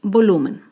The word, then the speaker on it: volumen: Otro ejemplo de palabra grave sin tilde es la palabra volumen. Volumen se acentúa en la penúltima sílaba, pero no lleva tilde porque termina en N.